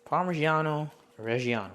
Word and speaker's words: parmigiano reggiano: clove black garlic and about a quarter cup parmigiano reggiano that's how you pronounce it and then about a cup of